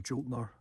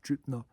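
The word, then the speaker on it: Jötnar: I'll call them the Jotnar or Jutnar. There's two ways of pronouncing it: Jotnar or Jutnar. Or Gutnar is another one, but that's a long time ago.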